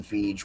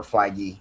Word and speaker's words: Feige: And I think that they that was intentional by the writers and Kevin Fij or Feige. I've heard it pronounced both ways.